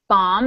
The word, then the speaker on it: bomb: lot of silent letters bomb is another really good one the last B is silent and the word listen